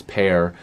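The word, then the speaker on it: Pär Lindholm: a Steve dangle video where he said it's not par it's pear I think somebody might have told me that and then another person told me it was par but then somebody else said it was pear it's parallel in home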